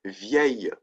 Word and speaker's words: vieille: It's pronounced the same way as the feminine singular.